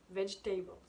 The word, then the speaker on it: vegetable: Ensuite un autre exemple comme vegetable. Donc au début je vais vous mettre des petites images ici pour vous expliquer que au début donc vegetable en écrit il y a 4 syllabes. Et quand on le prononce à l'oral, il en reste plus que 2, enfin vegetables.